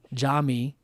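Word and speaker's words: Yami: name of yappen so Jami your name and as everyone will know is spelled with a Y but it's pronounced with a J and so Jami is spelled y a m i so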